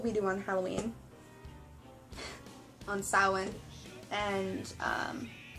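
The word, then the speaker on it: Samhain: have eight holidays um our New Year's is sin um spelled s a m h a i n s um but it's pronounced sa um then we have I believe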